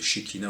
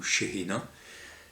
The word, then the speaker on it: Shekhina: Par exemple, dans l'Ancien Testament, dans le judaïsme, Yahvé avait une parèdre qu'on appelait la Shekhina, ça se prononce Shekhina ou Shehina, qui désigne en fait, alors Shekhina ça veut dire celle qui est aussi proche que le souffle.